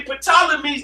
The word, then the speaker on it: Ptolemy: but this is actually ptolemy's name in greek ain't no that's why it's tyler the p is silent because ain't no peep see so you got